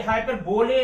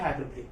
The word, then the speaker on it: hyperbole: देखिए जरा स्पेलिंग में ये हाइपरबोले दिख रहा है, लेकिन इसका आप प्रोनाउंसिएशन हाइपरबोले बोलेंगे।